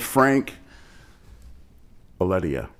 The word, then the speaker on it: Franc Aledia: And Franc Aledia. Yep.